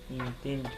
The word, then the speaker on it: intento: So the accent is on a middle syllable. When you put the O, the accent is just before it. Intento. Now this is extremely important. If I say intento, if I put the accent on the end, it means something else. It means he tried, which is going to